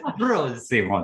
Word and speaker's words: Prosimo: That is the right way to say it, ‘Prosimo’ that’s right.